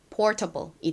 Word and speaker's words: portable: 그리고 a le는이 단어에서 able이 아니라 소리가 난다고 말씀드렸죠. 그래서 연결하면 portable이 됩니다.